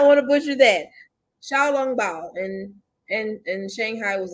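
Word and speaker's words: xiaolongbao: hold on hold on it's pronounced chao long bao okay all right i had to get together all right all right got it now i want to butcher that xiao long bao and and and shanghai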